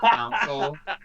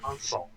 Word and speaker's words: console: Council. Cow. No, it's console.